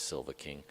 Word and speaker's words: Silva King: Like, well, he kind of says Silver King, Yeah. So it's easier for us to say. But when if you spell it out, it's Silva King.